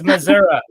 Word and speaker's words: Missouri: saying that's how people Missouri people Missouri will be like Missoura it's Missoura so tell them about me